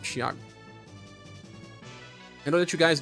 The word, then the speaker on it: Thiago: So it's Thiago or Thiago?